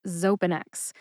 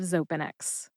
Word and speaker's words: Xopenex: down into syllables and often the syllable with the emphasis is indicated in this case that is the first syllable though all right real